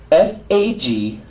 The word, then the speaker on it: fagioli: you're telling you can't answer the skills ready f-a-g-i-o-l-i everybody f-a-g-i-o-l-i let's try it again but just